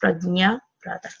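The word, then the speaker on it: prajñāparādha: It's pronounced Prajna Pradha.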